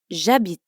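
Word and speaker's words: j'habite: I live jabit jabit jabit is actually two words which you already know means I and Abit which means live in French when one word ends in a vowel like and the next word starts with a vowel like a Beat we sometimes contract the two words so instead of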